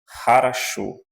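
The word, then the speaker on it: хорошо: Aqui, lembrando que eu falei para vocês, quando o O não aparece na sílaba tônica, então ele é pronunciado como um A, em russo. Por isso, essa palavra aqui nós lemos harasho.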